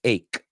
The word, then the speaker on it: ache: But no es H, it's ache, okay? And como stomach ache, headache, backache, toothache, no H, ache. Apúntalo. A-K, no, E-I-K, ache, es como se pronunciaría en español.